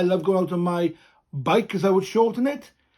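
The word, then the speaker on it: beic: bike quite a sharp not bike as we'd say in english but bike quite sharp and short bike spelled b e i c the c has that case of the k sound and the i sounding bike comes from the letter e and i together bike bike now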